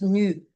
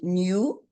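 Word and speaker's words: ν: Et pour que cela se passe, la quantité d'énergie qui est représentée ici par H euh new, ce V là, on le prononce nu ou new.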